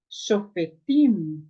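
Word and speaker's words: שופטים: Então, essa pré-tônica será reduzida a um shivá. Shofetim, ok?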